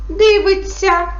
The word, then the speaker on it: дивиться: А тепер давайте попрацюємо правило дієслова на вся шся вимовляй і пиши так пишемо дивиться вимовляємо дивиться смієшся а вимовляємо смієшся тобто бачите написання і вимова цих слів відрізняється Тому треба бути дуже